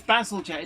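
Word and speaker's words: Bazalgette: Says Basil Jet. It's pronounced Basil Jet. It says Basil Jet.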